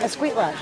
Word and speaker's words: Escuintla: Escuintla.